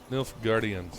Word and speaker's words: Nilfgaardians: Nilfgaardians. Nilfgaardians. Think like Asgardians, but Nilf instead of As.